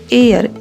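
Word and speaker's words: heir: ऐसे ही अगला वर्ड है एच ई आई आर एयर ये हेयर नहीं है।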